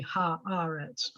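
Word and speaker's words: הָאָרֶץ: end of a sentence if you add ha to eretz it's always going to be ha ah reds and the accent is going to shift is the accent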